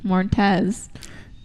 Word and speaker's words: Moretz: I'm not a really big fan of Chloe Moretz.